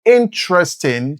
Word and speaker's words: interesting: This book is interesting to young readers. Here, the stress is on the first syllable, in.